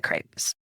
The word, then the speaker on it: CREP: and education project is that it rhymes with grape however you say it is fine but everybody asks how do i say craves rhymes with great and there's a reason